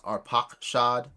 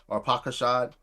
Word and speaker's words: Arpachshad: Other sources state that the phrase Arphaxad, which I would pronounce Arpachshad, right? Arpachshad, that literally goes back to Ur of the Chaldeans, right?